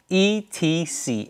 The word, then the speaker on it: et cetera: ETC, etc. is pronounced etc.